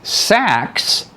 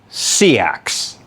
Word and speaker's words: seax: It's either pronounced sachs like a sack of potatoes or seaxs like c and then an axe.